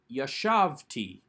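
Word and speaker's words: יָשַׁבְתִּי: yod with the tav we do not take the accent onto that final syllable but leave it on the second to last syllable a good rule of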